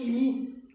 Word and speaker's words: imi: Il se prononce imi, préposition signifiant qui est dedans, qui est dedans.